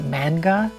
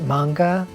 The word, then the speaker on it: manga: I mean manga, but like I've said every time I see that word, I want to say manga, but I know it's pronounced manga.